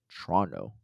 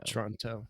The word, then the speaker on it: Toronto: to practice your pronunciations locals say Toronto as Toronto right TR on and O uh or yeah emphasis on the Tron part so Tron Toronto Toronto looking forward to next